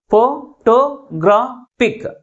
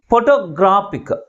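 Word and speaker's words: photographic: ఫోటోగ్రాఫిక్. ఫోటోగ్రాఫిక్. How many syllables? 4 syllables. But which syllable is pronounced with a greater force? That is, third syllable is pronounced with a greater force comparing with other syllables.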